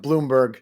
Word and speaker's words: Blomberg: uh World Series or I believe it's pronounced Bloomberg spell blomberg the Sandy